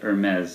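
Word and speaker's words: Hermès: of you that didn't hear that David said Hermes and that's the Technic that's the actual way that is pronounced it spelled h ER and yes is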